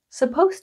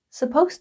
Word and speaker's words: supposed: this is confusing because when you're speaking the D is silent supposed to eat supposed to go supposed to want so when